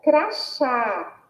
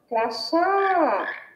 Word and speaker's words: crachá: Agora, ó, crachá. Crachá. Nós percebemos também que a sílaba tônica é o chá e que tem um som aberto.